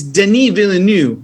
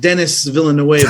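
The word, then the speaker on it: Denis Villeneuve: like yeah oh and it's denis villanue it's not dennis villanueva right there i like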